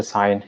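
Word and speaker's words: sign: कर लेना सारा सेंटेंस को स्ट्रक्चर को it's pronounced साइन it's pronounce साइन इसे क्या प्रोनाउंस कहा जाता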